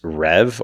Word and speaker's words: Reve: type of workflow, is Reve or Reve. I don't know actually how to pronounce it. It's Reve. So some are saying Reve, some are saying Rev.